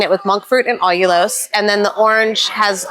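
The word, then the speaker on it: allulose: Olos. It's spelled A L L U L O S E.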